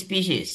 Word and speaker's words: species: Always species, singular or plural. It's always spelled out and pronounced with an s.